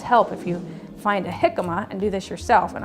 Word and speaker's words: jicama: Join me in the kitchen and we'll talk about jicama. So jicama, it's actually funny, it's spelled with a J instead of an H, right?